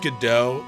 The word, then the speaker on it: Godot: you know about this weirdo no kronos it's pronounced godot it's weirdo bikini it's all my fault me